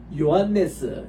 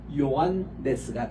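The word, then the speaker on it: Ἰωάννης: 델타 알파 시그마 이서 유다스 이렇게 되고 그다음 요한네스 이렇게 발음할 때도 보면은 이게 오메가입니다 우리 따라다 오메가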